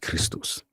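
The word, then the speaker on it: Χριστός: XP act is XPto and is pronounced Christos.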